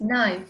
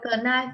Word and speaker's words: knife: Yes, knife. Nhưng mà âm ca là âm câm nhá, thế nên mình sẽ đọc là knife. Ok, rồi. Con toàn nào là knife. Không đọc là knife nhá, đọc là knife nhá.